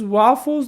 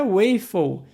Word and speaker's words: waffle: E sim, a pronúncia não é waffle e nem wafer. Wafer é o biscoito. Se você quer fazer aquela massinha na frigideira, o nome é waffle. Sim, o som tem esse A agudo, waffle.